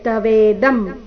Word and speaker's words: ತವೇದಂ: ಉಚ್ಚಾರಣೆ ನ ಇಲ್ಲಿ ಮಹಿಮಾನನ್ ಮುಂದೆ ತವೇದಂ ಇಲ್ಲಿ ಅನುಸ್ವಾರದ ಉಚ್ಚಾರಣೆ ಮ ರೀತಿ ತವೇದಂ ನೋಡೋಣ ಕೊನೆಯ ಚರಣ ಮಯಾ